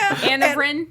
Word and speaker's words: Anavrin: do you say Nirvana Nirvana is backwards. Yeah. Anavrin. Anavrin. Okay, we'll take Anavrin. Takira's pronunciation for that.